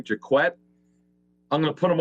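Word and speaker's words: Jacquet: Michael Jaquette is how you pronounce his last name, Jaquette.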